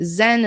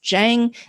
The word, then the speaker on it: Zheng: Most Americans say Zen. It's not actually Zen. It's Zheng, Zheng. Like the Chinese pronunciation.